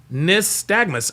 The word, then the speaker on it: nystagmus: Praetorian Guard says pronounced Nystagmus.